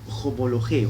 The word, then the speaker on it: homologeo: Bien, y la otra palabra en el griego es homologeo. Se escribe J-O-M-O-L-O-G-E-O.